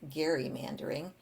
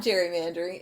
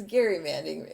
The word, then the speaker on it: gerrymandering: It was not gerrymandering, it's gerrymandering because it was named for Elbridge Gerry, who had the first gerrymandered district.